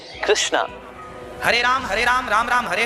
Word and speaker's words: कृष्ण: शुद्ध उच्चारण इसका क्या है? हरे राम राम राम हरे हरे, हरे कृष्ण कृष्ण कृष्ण हरे हरे।